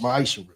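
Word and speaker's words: מעשר: Means 10th in Hebrew and is pronounced ma'ishra.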